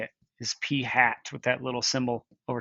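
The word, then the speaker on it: p̂: p hat that's how you say it is p hat with that little symbol over top of it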